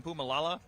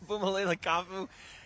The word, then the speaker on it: Puma Kafu: By the way, I butchered the truth. Puma Kafu's name yesterday. I called him Pumaala. Disrespectful. We can forgive that. I I shout out to Puma Kaufu.